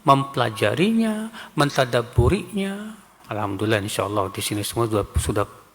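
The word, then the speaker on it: الحمد لله: Ada lagi yang harusnya alhamdulillah. Alkam pakai kaf alhamdulillah.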